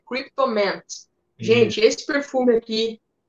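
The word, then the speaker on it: Kryptomint: Amen Cryptomant. Até o Johnny, né, que me falou aí a pronúncia certa dele. Tá certo agora, Johnny? Ah, tá corretíssimo. Eu falava antes Cryptomind, mas não é, né? É Cryptomant.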